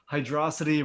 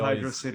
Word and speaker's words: Hydrocity: I pronounce it Hydro City. Everybody always gets mad at him no matter how he pronounces it. I'm a Hydro City guy, not a Hydrocity guy.